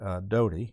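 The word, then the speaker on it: Doughty: this case is a Judge Terry Doty d-o-u-g-h-t-y I think that's how his name is pronounced that's how I would pronounce it and he issued this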